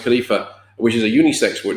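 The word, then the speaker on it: خليفة: word for human beings is khalifa which is pronounced khalifa which is a unisex word name and depending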